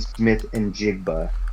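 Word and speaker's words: Smith-Njigba: Jackson Smith and Jigba is how I believe it is pronounced, out of Ohio State.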